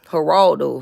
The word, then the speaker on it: Geraldo: look him up Geraldo haraldo haraldo they spell it with a G though so it's it's like like your name G but then at the end it's a o Gerald Gerald Geraldo it's kind